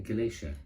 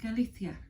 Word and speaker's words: Galicia: no you pronounced that can you say that again galatia it's not galatia how do you say it then galithia that's very and we